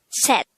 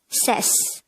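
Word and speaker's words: 셋: another see a character if you notice the ending sound of see it is actually a t sound and if the c character is located on the third position of the syllable it will have the t sound therefore this is pronounced as set and not says and that is number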